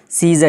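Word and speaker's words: scissors: सी silent होकर क्या हो जाएगा? सीजर, जिसका माना होता है कैंची।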